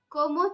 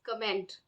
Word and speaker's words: comment: of the pronunciation of the word comment like in English we would read it as comment but and the spelling is also such but the French pronunciation is como como c-o-w-m-o something like that so much you say